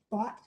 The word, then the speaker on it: Bott: If you may remember Seth Bott, that's how you pronounce his last name, who got transferred to